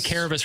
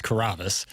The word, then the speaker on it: Kavas: you want to say you want to say Caris really bad but it's kavis and he does multiple